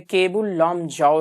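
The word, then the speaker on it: Keibul Lamjao: राजस्थान में गिर नहीं है, महाराष्ट्र में रणथंभौर नहीं है, मणिपुर में केबुल लामजाओ, हाँ ये क्या है? इसमें कीबुल लिखा हुआ है, जबकि सही क्या है? प्रोनाउंसिएशन में केबुल लामजाओ राष्ट्रीय उद्यान कहाँ स्थित है?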